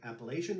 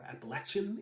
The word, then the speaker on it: Appalachian: Second is a tune very popular in the Appalachian region, or Appalachian, if you will, of the United States, and it's a tune called The Squirrel Hunter.